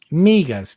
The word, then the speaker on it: migas: Migas.